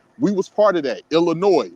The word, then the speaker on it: Illinois: We was part of that Illinois which is why the S is silent because the French pronounced all of their words with the S silent in in in their language.